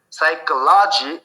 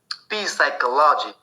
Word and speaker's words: psychology: l o g y psychology we cannot call it we cannot pronounce or read as p psychology because we know p is silent here there is no